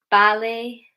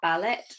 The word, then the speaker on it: ballet: But words like soften, listen, ballet, Christmas. Ballet is a French word, okay, so that could be why we pronounce it that way and not ballet, because we are taking it from the French pronunciation.